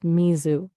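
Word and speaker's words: 水: Japanese is Smi. That's pronounced Mizu.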